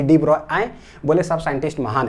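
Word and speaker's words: de Broglie: तो 1924 में ना डी ब्रोगली, देखिए ऐसे भी बोल देते हैं, लेकिन ना एक्चुअल प्रोनाउंसिएशन जो इसका डी ब्रॉय, क्या है, डी ब्रॉय।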